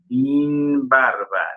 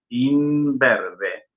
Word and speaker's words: imberbe: El sonido de la A cerró un grado porque repercutió sobre esa A el sonido de la I de la sílaba anterior. Imberbe. Imbarba. No, imberbe. ¿Qué tengo acá en mi mano?